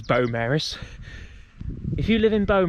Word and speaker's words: Beaumaris: I have to say if you're from bone Maris hopefully I'm not butchering the pronunciation this week um but I was told it was Beau Maris if you live in